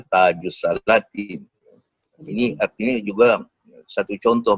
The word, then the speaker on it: Tajus Salatin: Tajus Salatin ini menarik juga kerana saya mendengar dalam beberapa seminar ada pakar filologi Melayu menyebut sebagai Taj al-Salatin. Padahal ejaannya memang begitu, tapi kita faham bahawa sebutannya betul Tajus Salatin.